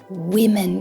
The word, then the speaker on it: women: Very strange, this change in pronunciation, right? Women. Careful here for the plural, right?